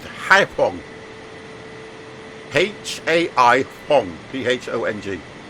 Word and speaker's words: Haiphong: And we are heading over to, I think it's pronounced Haiphong.